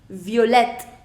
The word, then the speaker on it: violette: Now pronunciation. Violet, violette.